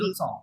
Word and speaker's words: la leçon: এর নিচে ওই চিহ্নটা দেখতে পাচ্ছেন কি? ছোট একটা চিহ্ন আছে না? বলেছিলাম জি, ফিশিং জি, জি। চিহ্নটা, ওটা ছ হবে সেটা ছ হয়, এই জন্য স হচ্ছে Baby. লোসন।